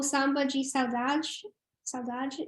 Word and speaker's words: Saudade: It's O Samba de Saudade.